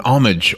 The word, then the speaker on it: homage: A tribute, an homage. Homage. I like the word homage, right? Yeah, sounds good. I get to say a word where you don't pronounce the H.